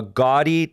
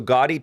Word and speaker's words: Gaudi: look up this name because i can never pronounce it a gaudi ii so gaudi ii it's spelled g-a-u-d-i and it actually had